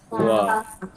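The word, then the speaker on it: は: contoh eh watashiwa korewaan astawa kinoa bila wa yang sej partikel tu dia tulis ha tapi bacanya adalah wa wa tapi kalau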